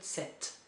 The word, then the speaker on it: sept: Sept, so you don't pronounce this P here, but you do pronounce the T here. So it's not sept, but sept.